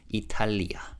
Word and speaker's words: 이탈리아: And in Korean, we pronounce Italy as Italia, 4-syllable word.